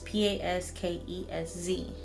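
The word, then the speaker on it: Paskesz: And then there's also the Pasquez. I believe that's how you say it. But it's Paskez.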